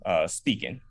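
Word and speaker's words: Speekin': Around that time, that's when I came up with the name Speaking, spelled with two E, so it's SPEEKIN apostrophe.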